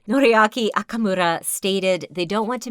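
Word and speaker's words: Noriaki Okamura: I'm not thinking I say say it right noriaki akamura stated they don't want to make any promises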